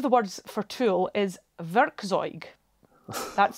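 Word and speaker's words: Werkzeug: uh one of the words for tul is verzo that's spelled w r k z e u g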